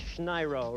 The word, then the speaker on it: Schneiro: All right, and I mispronounced your name. It's Schneiro, right? Right.